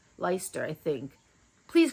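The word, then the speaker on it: Leicester: face Le leer Le I always said leester it's leer I think please correct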